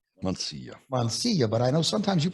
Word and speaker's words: Mansilla: We're here with Mansilla. It's Mansilla, Mansilla. but I know sometimes you pronounce it Mansilla.